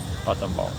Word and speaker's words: Battambang: Bam bam bong or bam bang. Battambang. Battambang. That's how the locals say.